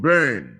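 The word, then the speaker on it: Byrne: you can see this in the case of brain brain is spelled b-y-r-n-e and Company versus Leon Leon l-e-o-n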